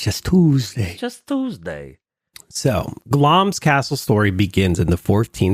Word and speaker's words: Glamis: today we stand before pronounce glams not Glamis I've been Li to